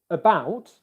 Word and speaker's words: about: For example, if I take the word about, can you hear how